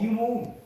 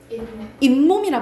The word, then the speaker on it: 잇몸: 이몸. 이 몸이라요? 이몸 아니에요? 잇몸이라 발음하죠. 잇몸. 그러니까는 니은이 덧나잖아.